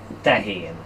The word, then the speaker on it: tehén: word is really easy it's pronounced sorry it's pronounced Tankian now that is a really really interesting Keith